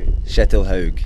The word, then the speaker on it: Kjetil Haug: a bit difficult but the pronunciation is shettle hogue that's the full name